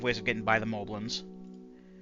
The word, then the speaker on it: Moblin: We have ways of getting by the Moblins. Moblins, however you want to pronounce it.